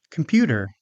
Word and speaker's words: computer: Computer. This word has second syllable stress.